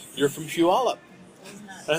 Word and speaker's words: Puyallup: And I was like, well, you obviously know Washington because you pronounce Puyallup. Right, yeah. And because most people are like, how I would Poi something. Yeah. Pui something.